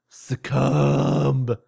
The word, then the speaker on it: succumb: Succumb. You don't pronounce the B.